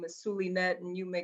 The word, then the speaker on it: Zulynette: instagram is at the underscore silly nets that is spelled z-u-l-y-n-e-t-t-e and no you cannot give me a nickname my name is sulinet and you may call me that thanks for